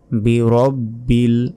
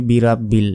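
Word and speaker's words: برب: অক্ষর উচ্চারণ করার জন্য অবশ্যই জিহা বের করে উচ্চারণ করতে হবে নরম ভাবে আউজু আউজু বলবেন না আউজু বি রব্বিল বি রব্বিল অনেকে বলি বি রাব্বিল এটাও ভুল বলতে হবে বি রব্বিল ফালাক ফালাক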